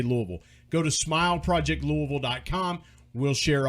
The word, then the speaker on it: Louisville: And again, that's the correct way to say it. It's not Louisville. It's not Louisville. It's Louisville. If you're going to be a part of that scene, you got to say Louisville.